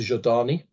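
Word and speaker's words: Zhodani: And Traveler has its whole culture, Zodani, or if you want to pronounce it the Russian way, the Zodani, who are psychic and who live in a whole society that is predicated upon psychic powers.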